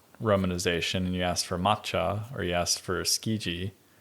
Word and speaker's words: matcha: matcha would become Mata you're still supposed to pronounce it matcha but we don't know that because we when you glance at it it looks at first glance to be MAA but it's supposed to be matcha yeah so then you're just